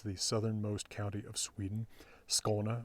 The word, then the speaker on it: Skåne: He traveled all around Denmark, or what was Denmark at the time, which includes the southernmost county of Sweden, Skåne, or as the locals say, Skalna, which is where the Hunnestad monument is.